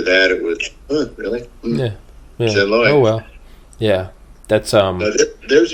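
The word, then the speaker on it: xin lỗi: And every guy that served in Vietnam knows what Sinloy means. It's like, sorry about that. Sucks to be you. What is it? Xinloi. Sinloy. Yeah, it's pronounced S-I-N, but it's spelled X-I-N.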